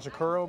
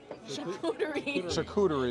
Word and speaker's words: charcuterie: That, how do you pronounce this again? Shakuro board? Charcuterie, there you go.